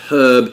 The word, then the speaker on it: herb: And then similarly, when we're talking about pronunciation, a lot of Americans have a tendency to drop the H on herb, whereas the British tend to keep it, but that was not always the case.